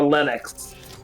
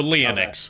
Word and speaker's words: Leonix: Is it pronounced Leonix or Lennox? Just so I can... Because your name kind of makes me think of a character from a movie who was named Lennox. And I think he spelled his name, but I think they spelled the name... The former? So Leonix. Okay.